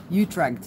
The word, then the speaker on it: Utrecht: Utrecht. Utrecht is how the English Americans pronounce it.